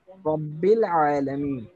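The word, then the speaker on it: رب العالمين: আমরা একটা আলিফ আছে আলিফ আছে কিন্তু সেই আলিফটা কিন্তু এখানে উচ্চারিত হচ্ছে না মানে এই জিনিসটা কি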